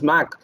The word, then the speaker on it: MC: case where the MC, which is pronounced as Mac, that is common with MAC also, has got defeated in this case, in this restaurant chain case.